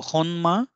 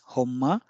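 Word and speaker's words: 本間: or something genuine so honma and it is pronounced also as Homa for the sake of easiness and this means origin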